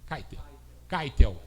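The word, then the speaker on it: Keitel: é descendente de alemão como é que pronuncia esse William keiter vai ver isso aí kitel kitel foi bem então vamos lá o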